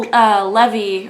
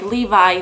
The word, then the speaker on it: Levy: It was Nia Jax versus local competitor Rachel Levy, or like Levi, they pronounced it Levy, but I'm gonna say Levi.